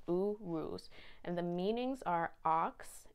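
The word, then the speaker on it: Uruz: this yes okay yeah it's pronounced oo roos o o r o o z u ruse and the meanings are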